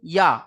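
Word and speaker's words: ي: আগে, আর জিম শিন ইয়া এই 3টি অক্ষরের মাখরাজ হলো জিহবার মাঝখান তার বারবার উপরের তালু, জিহবার মাঝখান এবং তার বারবার উপরের তালুর সাথে লাগিয়ে উচ্চারিত হয় জিম শিন ইয়া।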